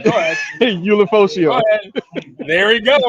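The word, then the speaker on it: Ulofoshio: You know how to pronounce his name. Go ahead. Ulifosio.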